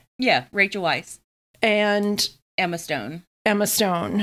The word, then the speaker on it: Weisz: the favorite this week with Olivia Colman Rachel vice and my pronouncing her name right yeah Rachel Weisz and Emma Stone Emma Stone and Joe Alwin